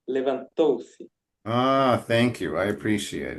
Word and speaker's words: levantou-se: You said levantou-se, but the emphasis is in the third syllable, so it's levantou-se.